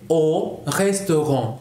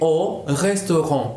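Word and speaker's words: aux restaurants: Je vais o restaurant. Se pronuncia exactamente igual, solamente se agrega una X. Je vais au restaurant.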